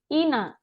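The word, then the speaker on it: 인하: Ina, ini bacanya ina ya, bukan inha karena kalau di tengah itu nggak dibaca.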